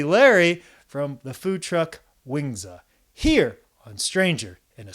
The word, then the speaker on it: Wingzza: uh you know owner-operator of wingzza that I pronounce it yeah properly yep wingzza wingzza uh you know food truck which you've